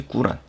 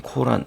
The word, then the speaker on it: 꾸란: 이제 이슬람의 경전은 이제 꾸란, 옛날엔 코란 뭐 쿠란 뭐 이렇게 적었던 것 같은데 요즘에 원어민 발음은 꾸란이 좀 맞는 것 같아요.